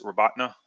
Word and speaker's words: Robotyne: Well, it looks like Robotyne. It's Robatna is the actual pronunciation.